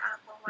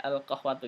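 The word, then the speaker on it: القهوةُ: Ustaz, itu kok di sini tulisannya al-qahwata tapi dia bacanya al-qahwata. Naam, al-qahwatu, yang sahih al-qahwatu, ganti ya.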